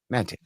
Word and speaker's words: Maté: Aaron Maté, who is, it's actually Mate. I always say it wrong. It's just like the name Matt with an A on the end. Mate. Aaron Mate has a book,